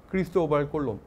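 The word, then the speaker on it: Cristóbal Colón: 주로 에스파니아에서 어떻게 불리느냐가 가장 중요한 대목이죠. 크리스토발 꼴론입니다. 크리스토발 꼴론. 즉 그래서 스페인 사람들한테 오늘날에도 컬럼버스 뭐 얘기를 하면 잘 못 알아들어요. 대체로 그렇게 발음하지 않기 때문에 발음하지 않기 때문에 크리스토발 골론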